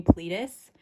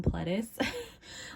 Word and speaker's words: Pledis: I thought you pronounced 17's company Pledis when I first read it, and it took me a really long time to call them Pledis. Like, I just would always call them Pledis. Like, I know that's not how you say it, but like once